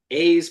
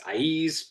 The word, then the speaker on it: Aiz: So we're going to do them in order of appearance, and I'm gonna pronounce this A's probably more often than not. It's Aiz, but it's A-I-Z for those who haven't read the book.